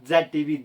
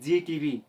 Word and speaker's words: Zee TV: That is नॉट Z TV। Zee TV।